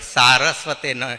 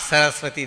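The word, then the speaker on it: सरस्वते: When we say Namaste Saraswate Deve, Saraswate, not Saraswati Deve.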